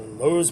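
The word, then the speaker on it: Loews: this hotel which is the how do I pronounce it Rose Madison the Lowe's Madison in Washington DC it's wonderful uh for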